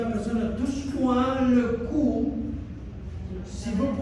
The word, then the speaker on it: cou: Si usted le dice a una persona, touche-moi le cou, si vous prononcez mal, ça c'est drôle.